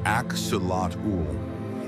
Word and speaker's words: Axolotl: Native to the lake complex of Zochilco in Mexico, the axelottle, pronounced axulat, is a type of salamander that never fully grows up.